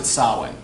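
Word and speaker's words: Samhain: that's how you spell it yeah but he pronounced it sowwy because irish / NCA shin is very very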